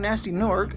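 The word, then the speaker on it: Gnasty Gnorc: The main villain of the game, Nasty Nork, spelled with a G, has stolen all the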